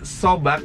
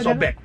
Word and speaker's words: Sobag: Sobak apa Sobek? Sebenarnya aslinya sobek. Sobek. Oh, kedengarannya kayak sobek gitu ya. Ternyata tulisannya S-O-B-A-G. Sobek. Karena kebanyakan customer ngomongnya sobak gitu, akhirnya ya udahlah sobak aja. Oh, sobek.